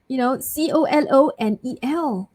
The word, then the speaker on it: colonel: The next word is a difficult one because it's spelled like, COLONEL. But actually, you put, there's a silent LO. So it's actually Colonel, right?